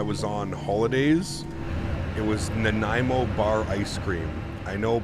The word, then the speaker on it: Nanaimo: cream while I was on holidays it was Nanaimo bar ice cream I know probably a lot